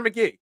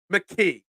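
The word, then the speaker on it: Tanner McKee: give there there were people calling for Tanner McGee mcke I don't want to get in trouble I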